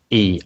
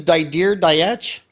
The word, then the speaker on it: Dietsch: And then Dietsch is spelled D-I-E-T-S-C-H. Dietche, I think. His name is Dietche? Didier Dietche? Dietche, some people say.